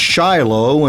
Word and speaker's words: Shiloh: is the former mayor of Shiloh the place pronounced Shiloh and hundreds of biblically named places in America